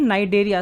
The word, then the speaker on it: Cnidaria: देखिए जो कोरल्स होते हैं वो एक फाइलम होती है नाइडेरिया, CNIDARIA, इस फाइलम को बिलोंग करते हैं। और इसमें सी साइलेंट है इसलिए इसे नाइडेरिया कहा जाता है।